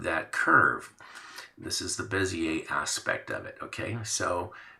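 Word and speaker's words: Bézier: It's called a Bezier tool, technically, and Bezier, and that's spelled B-E-Z, B-E-Z-I-E-R, Bezier. It's a French word, and it means curve.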